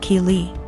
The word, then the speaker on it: Keely: My daughter's name is Keely, pronounced Keely.